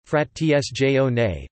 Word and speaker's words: frazione: Frazione. Italian pronunciation, frat tsjone, place frazioni, frat tsjone, is the Italian name given in administrative law to a type of territorial subdivision of a commune.